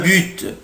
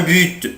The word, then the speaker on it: but: ان بوت ان بوت بوت هدف او جول. ممكن منطقش لا لتر تي حرف تي ممكن منطقوش، اقولها ان بو ان بو ان بو او بوت.